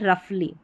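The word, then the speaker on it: roughly: चलिए अब आगे, यहाँ पर ये है रफली, रफ हो गया और ली जुड़ गया, ठीक है। तो जो 3 स्पेलिंग बताई ना, उनको याद रख लें, उनसे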